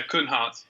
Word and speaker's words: Kunhardt: name wrong in advance it's Cohen Hart is that correct yeah yeah come Hart it's the D it's the D that confuses ya you get all kinds of pronunciations because of that B definitely well